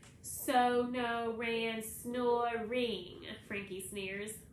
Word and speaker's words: Sonoran: the sanchro boy snickers so no reyen that pronounces the word slowly it's the name of the desert around where i lived in tucson so no rain snow a ring frankie